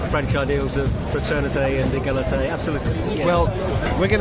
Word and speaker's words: égalité: Yeah, it does fit in with the French ideals of fraternité and égalité, absolutely.